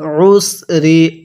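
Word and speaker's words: العسر: তাহলে ফা ইন্না মাআল উসরি, আইনটা পড়ার সময় আমরা গলার মধ্যে একটু চাপ দিয়ে পড়ব, তাহলেই এই আইনটা সহি শুদ্ধ উচ্চারণ হবে, অন্যথায় আইনটা হামজা উচ্চারণ হয়ে যাবে।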